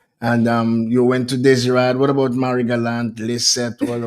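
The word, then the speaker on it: Désirade: We tried to get communications with the individuals from Guadeloupe and Desiree, that's how you pronounce it? Well, Desirad, yes.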